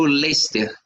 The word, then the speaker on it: Leicester: na Premier League no Leicer, né? Um time com a camisa azul. Não sei, não sei como é que eles no português se se pronuncia da mesma forma, mas se escreve Leicester.